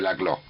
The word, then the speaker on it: Laclau: se escribe Laclau y se pronuncia Laclau.